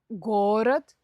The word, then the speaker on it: город: Например, в форме множественного числа часто переходит ударение на окончание. Видите, я хотела сказать раньше, чем подумала. Например, город, города, берег, берега.